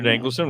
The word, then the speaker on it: Dankelson: saying people's names wrong yeah it's a than danelon okay that pretty much what it looked like so danelon welcome to the show and uh I don't